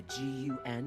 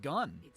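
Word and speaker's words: G.U.N.: escort me to the G N rendevu Point g n yeah I know those are the letters but we've never pronounced it like that it's always been gun we interrupt sonic6 to bring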